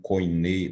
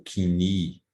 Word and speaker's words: Koiné: É o chamado grego koiné, ou kini, ou koiné, existem várias formas de pronunciar, que significa comum.